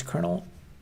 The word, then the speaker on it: colonel: Actually, I they're pronounced the same. I would pronounce that colonel. But then again, that's this is not a word I ever say. So I would believe you that it's pronounced colonel. Or is it? Maybe it just sounds different. There's no R in there.